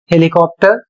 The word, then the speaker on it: helicopter: अगले शब्द में HELICOPTER हेलीकॉप्टर, इसमें भी P का उच्चारण किया जा रहा है।